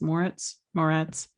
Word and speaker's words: Moretz: The show with Chloe Grace Moretz. Moretz. The library. I think is how it's pronounced.